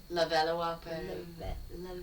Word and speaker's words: Levallois-Perret: The suburb was Levallois-Perret, I believe is how it was pronounced when we looked it up. Yep. And so it was discovered in the 1800s by, obviously, a French... It's Levallois. Levallois-Perret. Levallois? Yeah, there you go!